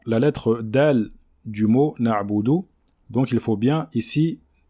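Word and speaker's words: نعبد: Donc il faut bien prononcer le Ayn, qui est une lettre qui passe par la gorge. Donc ici, il ne faut pas l'avaler ou bien la réciter précipitamment. D'accord? Il faut prendre le temps de bien la prononcer. Iyyaka na'budu, et non pas na'budu, na'budu, comme le font certains. Il ne faut pas l'avaler. Donc c'est pas na'budu, mais na'budu. On montre bien le ayn.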